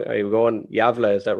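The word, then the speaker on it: Gävle: i was all in i'm probably going to pronounce this place wrong are you going javila is that right yeah that's her that's her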